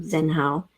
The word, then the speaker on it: Zenhao: with me, and I Phonetically, it should be Tzenhao, but I felt that that wasn't something that was easy for people to say, so I just dropped the T to become Zenhao.